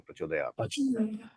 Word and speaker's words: प्रचोदयात: बोलते हैं उसमें तो वो हलंत खाली आधा बताने वाला है तो इन टर्म्स ऑफ प्रोनाउंसिंग हम ता पूरा नहीं बोलेंगे प्रचोदयात अच्छा प्रचोदयात नहीं बोलेंगे प्रचोदयात धन्यवाद प्रभु जी हां